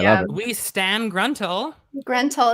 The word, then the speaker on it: Grentyl: My new name is Grentel. Yeah. Solid name. Beautiful. I love it. We stan Gruntle. Grentel. It's spelled Grentyl.